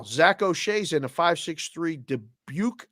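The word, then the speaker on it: Dubuque: oa's in a 563 debuk Iowa is that how you say that Deb right yep okay debuk Iowa Corey McBeth 402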